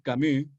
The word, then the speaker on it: Camus: escribe sartre y de Albert camu camus escribe camus los dos premios Nobel de